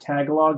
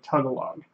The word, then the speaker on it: Tagalog: watching the stream and says that I said Tagalog and it's pronounced something more like tugga log I'm sorry didn't realize